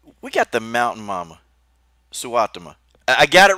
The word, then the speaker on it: Suotama: We got the mountain mama, Suotama.